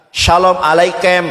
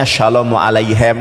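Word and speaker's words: שלום עליכם: Memang itu hurufnya kap tapi dibacanya shalomu alaihem. Kenapa dibaca shalomu alaihem? Karena kapnya tanpa dages. Dages itu ee tebal gitu loh. Titik di tengah itu dages namanya.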